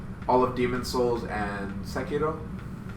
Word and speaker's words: Sekiro: I've played all the Dark Souls and their DLC and Bloodborne, but I have not played all of Demon Souls and Sekiro.